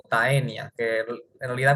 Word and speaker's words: Taenia: Familia tenide, género tenia o taenia, que en realidad cuando te juntas una a y una e en latín, que es el idioma del de la taxonomía, se pronuncia como e.